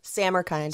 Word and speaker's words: Samarkand: know them you know how do you say again Sam are kind Sam are kind Sam are kind instead of saying Sam is kind Sam are well that's